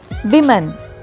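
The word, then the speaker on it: women: And number 7 இன் our list is விமன். இதை நம்ம உமன்னு சொல்லிகிட்டு இருக்கோம். ஸோ the right pronunciation is விமன். And number 8 இன் our list is ரெசுமே.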